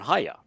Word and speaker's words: Haya: And so you can look up Haya and you say, all right, Haya has the Yod, the Hey, and Hey, a Yod, and a Hey. Yeah. And it's pronounced Haya.